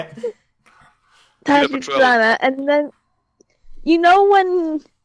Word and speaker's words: Tachibana: How do you pronounce his name? Tachibana? Tachibana.